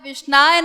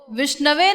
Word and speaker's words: विष्णवे: तो वो बोलता है गंगाय नमः, जमुनाय नमः, विष्णाय नमः, इस प्रकार बोलता है। तो भगवान ये नहीं नोट करते कि वो अशुद्ध उच्चारण कर रहा है, विष्णाय नमः बोल रहा है, और विद्वान जो